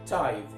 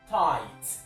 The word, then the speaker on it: tithe: want to show you the right way to pronounce the word t i t h e tithe tithe now that word which is of course